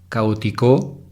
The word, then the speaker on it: caótico: La sílaba tónica es la letra O. Ahora es aguda, grave, esdrújula. Es palabra esdrújula. Las esdrújulas siempre se acentúan. Entonces sería caótico con acento en la primera O.